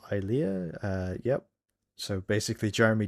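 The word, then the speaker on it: Ilia: Um, her name is pronounced Eia.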